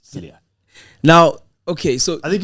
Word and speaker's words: Cilliers: You don't say the S at the end. It's Cilliers.